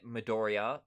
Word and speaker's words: Midoriya: Is Midoriya? How do you say it? Yeah, Midoriya.